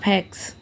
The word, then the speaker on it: ফ্যাক্স: সংযুক্ত ফ্যাক্স উচ্চারণটা হবে ফ্যাক্স আর কি বা ফ্যাক্স আসলে এইযে এই যে আমরা ফ বলি প ফ আসলে কিন্তু উচ্চারণ কিন্তু ফ দুইটা ঠোঁট মিলিয়ে তারপর উচ্চারণটা করতে হয়।